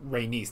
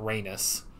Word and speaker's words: Rhaenys: That's how you pronounce it. Rhaenys, not Rhaenys.